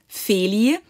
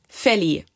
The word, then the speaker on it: Feli: so basically for example in my name it's it's a long vowel it's a long e most americans can't do that so they say a short one so long would be feli and short would be